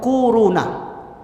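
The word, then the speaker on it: كورونا: kwau row nah Hai korona bacanya tuh kuruna akhir-akhir ini bukan Tibet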